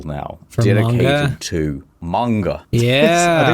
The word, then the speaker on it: manga: to manga. I think Yeah. it's pronounced mango.